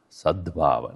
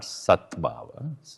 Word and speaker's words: sadbhava: Sadbhava, when you say, then it becomes sadbhava, not satbhava. When you say satbhava, it becomes S-A-D, B-H-A-V-A, sadbhava.